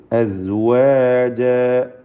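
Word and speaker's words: أزواجا: സുമ്മ ജഅലകും അസ്വാജ, അസ്, അസ് എന്ന് പറയുമ്പോൾ സായിൻ്റെ ഉച്ചാരണം, അതിൽ അത് സീനോ മറ്റ് രൂപത്തിലൊന്നും ആയി പോകരുത്. അസ്വാജ, അലിഫിൽ 2 ഹറക്കത്തിൻ്റെ അളവ് മാത്രമേ കൊടുക്കാവൂ, ദീർഘം. അസ്വാജ എന്ന് കൂടുതൽ നീട്ടരുത്.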